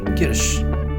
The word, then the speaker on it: Kirsch: This is the pronunciation of this one is Kirsch. Okay, this is Kirsch, Ki and here Rush, right? So pronunciation of this is Kirsch. It's not Kirsch or Kirsch. It's Kirsch.